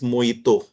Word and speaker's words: mojito: Somebody said mojito, although the spelling is such, but the pronunciation is mojito. The J is silent.